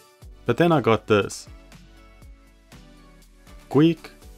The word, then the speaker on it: Gweike: Gweike. After watching some of their company videos, I think it's pronounced Gweike.